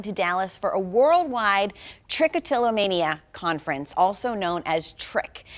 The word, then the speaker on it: trichotillomania: you tell me how to say it again trichotillomania okay total mania I know it's a really